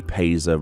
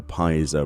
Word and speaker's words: Paissa: to be adored and the paisa rug or pies a rug depending on how you want to pronounce that and it says what